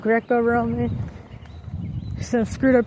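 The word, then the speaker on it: Greco-Roman: I was saying Greek Roman instead of Greco Roman.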